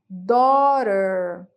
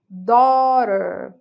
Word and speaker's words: daughter: palavra filha aqui ó Daughter Daughter Observe que tem um G lá no meio mas eu pulei a pronúncia dele ó ah quando a